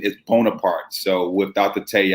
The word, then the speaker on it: Bonaparte: call it bonaparte bonaparte but the uh correct pronunciation is bonaparte so without the tell you at the end